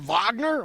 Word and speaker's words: Wagner: It's spelled Wagner, but I'm supposed to pronounce it Vagner.